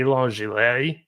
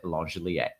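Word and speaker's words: Langeliers: We just tend to pronounce guys' names French, and it's something that has gone back many years, and that is why he said Langelier.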